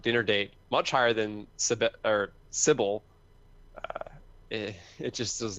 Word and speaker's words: Cibele: to, but I did play through Cibele, which Sybil. was sure. That's how the creator pronounced it in a podcast I listened to ages ago.